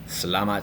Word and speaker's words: selamat: Selamat. Selamat. And the stress is at the end.